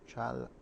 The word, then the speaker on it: చాలా: చాలా Chala.